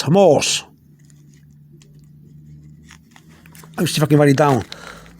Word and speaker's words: mohos: You still don't have, I didn't write the H because the H is not pronounced. You really write the plural like this. But the H is not pronounced. Okay, but that's how you write it. But you don't pronounce the H.